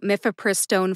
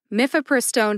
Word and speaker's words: mifepristone: in let's talk about miffapristone first mifiperstone has four syllables mif which rhymes with cliff which sounds like either